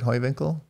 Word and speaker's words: Heuwinkl: Your club, Heuwinkl, am I saying that right, Heuwinkl? Yes, you say it right.